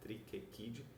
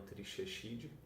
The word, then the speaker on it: Trichechidae: Então, em latim, o CH se pronuncia que nem um K, Triquequidae, e não Trichechidae.